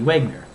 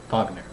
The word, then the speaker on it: Wagner: Well, it's pronounced with a labiovelar glide, not a dental fricative. So that would be Wagner, not Wagner.